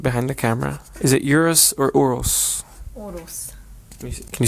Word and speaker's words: Urus: So guys, after extensive research, this is how you say it. As urus. It really is urus, so we're not getting scammed.